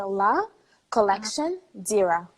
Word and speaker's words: Lacollectiondira: So it's La Uh-huh. Collection but Anglophones find it easier to say La Collection Dira. Okay, Lacollectiondira. Okay. What does Exactly, that yes. mean? Okay, so La Collection Dira, essentially it's like a play of words.